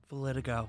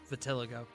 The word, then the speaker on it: vitiligo: Valitigo. Yeah. Or Vitiligo. I was trying to look up the pronunciation.